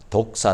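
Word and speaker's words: δόξα: 그리스 줘 어 거기에 이제 영광 이란 단어가 독사 라고 발음합니다 그런데 그 단어가 사실은 원래는 어 그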